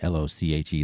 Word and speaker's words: Lochi: It's @ryanlochi, r y a n l o c h i. That's how you pronounce my name, by the way, LoChi.